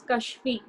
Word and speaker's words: Kashvi: Sir, my name is pronounced as Kashfi. Okay, Kashvi.